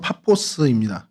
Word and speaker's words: 파포스: 어 이름이 지금 그렇죠 바보인데 원래의 발음은 파포스입니다. 그 헬라어로 파포스라는 곳인데요.